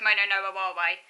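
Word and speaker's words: もののあはれ: Mono no awari. Mono no awari refers to mono no awari, or mono no aware, I think that's how you pronounce it. Mono no aware. Yeah, it's mono no aware.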